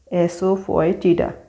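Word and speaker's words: asafoetida: एसोफोइटिडा, एसोफोइटिडा का मतलब होता है हींग, इसका प्रोनाउंसिएशन है एसोफोइटिडा।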